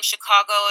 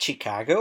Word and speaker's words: Chicago: And is it Chicago or Chicago? What's the correct pronunciation, actually? So we have a tendency to say Chicago or Chicago. We have a Midwestern long A that we kind of drag out.